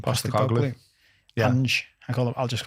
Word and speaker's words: Postecoglou: Postecoglou.